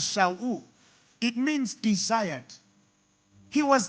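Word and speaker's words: שאול: The Hebrew word for Saul, the Hebrew pronounce him as Shaul.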